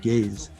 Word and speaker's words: Gaise: And by the way, it's Gaze pronounced Gaze.